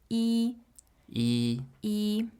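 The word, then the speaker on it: 一: um but generally speaking when you're referring to the number one as a number you would pronounce in the first tone so follow along with me e e e okay so if a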